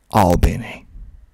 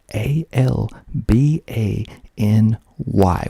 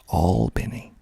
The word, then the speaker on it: Albany: Georgia it is spelled a l b a n y which is the exact same spelling of another town in New York which is pronounced completely different here in Georgia we pronounce it aliny aliny not Albany Albany